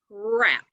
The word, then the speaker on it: wrap: is wrapping a present the word is rap right so i know the first sound is er which one of these w r or w makes an r sound that's w r okay and i know